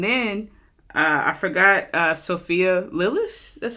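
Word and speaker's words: Sophia Lillis: duh duh and then uh I forgot uh Sophia lilis that's how you say her name she was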